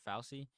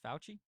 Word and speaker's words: Fauci: have been seeing like dr falci how do you say his name fauci oh dr fauci has been getting uh